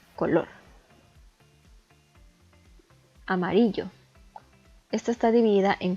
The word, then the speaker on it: color: E igualmente está dividida en 2 sílabas, solamente que aquí la sílaba tónica recae en la última sílaba, color.